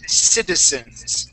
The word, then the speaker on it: citizen: now this is uh one of the times when a z in English will sound more like an S okay we say citizens citizens citizens yeah very